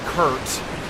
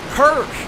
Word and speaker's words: Kirk: Knight Kurt is really interesting. Kirk, I keep calling him Kurt. Kirk.